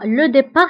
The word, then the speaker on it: départ: وانتبهوا بالنسبة لو ديبار كنكتبوها بالت في آخر الكلمة ولكن لا ننطقها. ضده هو الوصول أو l'arrivée.